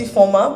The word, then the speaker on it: Ifoma: I wrote it because my name is, as you know, it's Ifoma, but a lot of people like to mispronounce it despite it being 3 syllables.